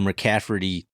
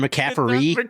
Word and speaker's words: McCaffery: show that was the McCafferty friggin' nepotism show. You still can't say it right. Is it McCaffery? There's no T? Yeah. I don't know why I keep putting a T in there.